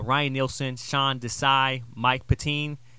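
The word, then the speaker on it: Pettine: Nielsen Sean Desai Mike patine patini that's how you say it uh and Brian Flores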